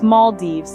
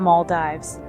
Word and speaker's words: Maldives: World waiting to be explored just remember to pronounce it right it's Maldives not Maldives we wouldn't want you to take a dive